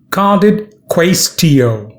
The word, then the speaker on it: cadit quaestio: it means and how it can be used pronunciation carded quastio cardit it means the case is finished the